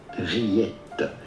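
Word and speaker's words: rillettes: Rillette. The S at the end is silent, but in English it'd be fine to say rillette.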